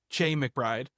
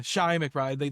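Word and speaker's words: Chi McBride: His name is pronounced Shai. I always said Ch McBride. I always called him Chai. Yeah. Yeah. Shai McBride.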